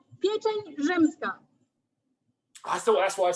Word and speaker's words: pieczeń rzymska: Called pieczeń rzymska. I thought that's what I said, but apparently not. Pieczeń rzymska.